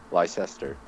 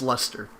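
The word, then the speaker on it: Leicester: to pronounce that word liester no absolutely not absolutely Chester leester nope Li is it okay is it lie no it's not it's Lee no le it's Lester what what yeah okay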